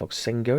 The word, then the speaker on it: Voxengo: I think it's Voxengo is how it's pronounced.